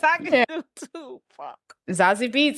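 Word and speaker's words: Zazie Beetz: and I was like, Zazie Bitch is the best I can do too. Fuck. Zazie Beats, that's how you say it.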